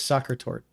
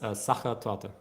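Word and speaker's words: Sachertorte: I always thought it was soccer tort. It's Saka to Okay, I was I speak two languages.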